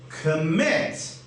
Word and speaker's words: commit: syllable no not but what about commit commit is two syllables so our rule says if a word with two syllables stress on the second syllable what does that mean